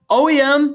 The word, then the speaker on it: OEM: OEM, pronounced as separate letters, is short for Original